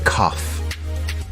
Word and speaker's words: cough: The word cough has an unusual pronunciation. Instead of a G sound, we have an F sound here. Do you have a cough?